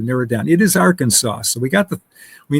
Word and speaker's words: Arkansas: And it's interesting because because Arkansas is arc and Kansas. And Arkansas is pronounced differently than Kansas, which is which is interesting.